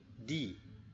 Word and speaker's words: the: Jadi anak sekalian, ingat kalau ada huruf ataupun kata de, kemudian bertemu dengan huruf vokal ya, a, I, U, E, O, E, I, U, O ya. Itu namanya huruf vokal ya. Jadi dibacanya bukan de tetapi di.